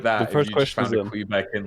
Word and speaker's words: Kweebec: have we ever heard the team say Quebec could it be Quebec the whole time yeah yes they've done